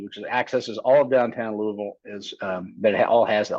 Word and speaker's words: Louisville: And if you didn't catch the pronunciation, it's Louisville, not Louisville. Believe me, say Louisville, and the people that live there will definitely correct you.